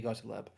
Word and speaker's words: Gottlieb: It's CIA, infamous CIA chemist Sydney Gottlieb, and I think that's just Gottlieb. Gottlieb, that's it.